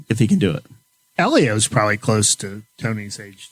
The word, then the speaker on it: Helio: Elio's probably close to Tony's age, too. isn't They're right around. They grew up racing go-karts against each other. We've all agreed on common pronunciation of Elio, not Helio.